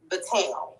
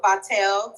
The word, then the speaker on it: Vitelle: It's Vitelle. Yes. Okay, I said it right. We want to rent them Vitelle. Or Vitelle, or, it's really just a matter of what your accent is, okay? But yeah, because it can go as long as you don't say right? Vitelle. The E at the end is silent.